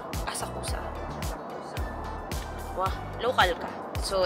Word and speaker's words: Asakusa: How do you pronounce it? Asakusa. Asakusa.